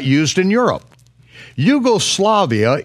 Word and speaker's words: Yugoslavia: Yugoslavia is spelled with a capital J, and only Americans mispronounce it as Jugoslavia.